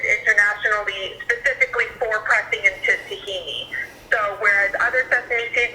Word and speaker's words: tahini: for tahini specifically what is it is it tahini or tahina and hi i'm joan's son david hi so tahimi is the greek pronunciation is the arabic pronunciation okay greek cuisine